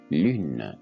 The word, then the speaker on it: lune: ce mot lune est lune le e il n'est pas prononcer donc on prononce uniquement l u n lune comme on l'a vu